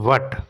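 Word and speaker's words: baht: ফিলিপাইনসের peso থাইল্যান্ডে রয়েছে এটা বাত হবে না ঠিক বাট ঠিক আছে বি এইজেটি এরকম আর কি উচ্চারণটা জাপানের রয়েছে ইয়েন এবং বারেনের রয়েছে দিনার।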